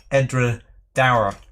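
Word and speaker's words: Edradour: Petehead, pronunciation of Edra Dower, as in towel, not as in poor.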